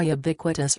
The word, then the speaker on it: ubiquitous: country against the now ubiquitous rhymes with iniquitous LGBTQ agenda legislation has